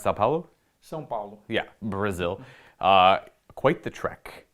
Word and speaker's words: São Paulo: Today I have the honor of playing against Marco from, how do you pronounce Sao Paulo? São Paulo.